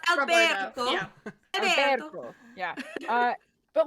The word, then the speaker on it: Alberto: Well, it's actually pronounced Alberto.